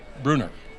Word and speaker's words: Brunner: Or Brunner, how is it pronounced? Brunner.